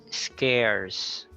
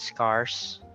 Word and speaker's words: scarce: it's a soft e scarce scarcity so it's not scars but we are confused with saying that scars because there are there's